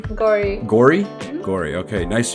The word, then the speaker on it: Gauri: Gauri.